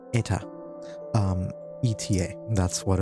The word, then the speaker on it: Eta: Last session, you guys had taken it upon yourselves to visit a nearby village called Eta. ETA. That's what it's pronounced according to the name of the artist who made it.